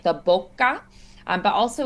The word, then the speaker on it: bocca: A, so that's why we have a K sound. But also the double consonant, we really want to make sure that we kind of linger. We sort of like pause or like linger or stretch.